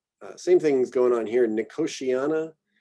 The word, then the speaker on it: Nicotiana: Nicotiana, it's this TI thing we do in English. Nicotiana. You could also do Nicotiana, but I believe most people are going with Nicotiana.